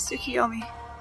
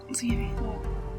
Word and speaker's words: Tsukiyomi: My name is Tsukiyomi. Oh, okay. Tsukiyami-san. Tsukiyomi.